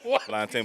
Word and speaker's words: plantain: Plantain, but they be plantain. Let's not do this. I mean, Let's not do this. plantain is the A is silent, bro.